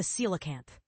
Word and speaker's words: Coelacanth: The cilacanth pronounced cilacanth is often referred to as a living fossil because its physical characteristics have remained almost unchanged for millions of years.